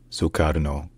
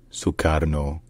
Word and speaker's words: Sukarno: from Dutch colonial rule in Indonesian his name is pronounced sukarno sukarno suar no sucaro all